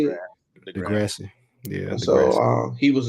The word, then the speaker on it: Degrassi: Degrassi.